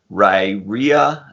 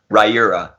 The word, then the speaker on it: Riyria: Most people say Riyria, and then other are Riyria or something like that, but it's actually Riyria is how I pronounce it.